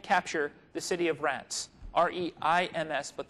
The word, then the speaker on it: Reims: the city of Reims, R-E-I-M-S, but the French pronounce it with a real nasal, Reims.